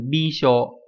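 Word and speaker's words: 微笑: Trên này nó đọc là gì nhỉ? Nó đọc theo kiểu âm cun, đọc là hoemu đúng nhỉ? Nhưng mà đây dưới lại là âm ôn nhá, là bisho.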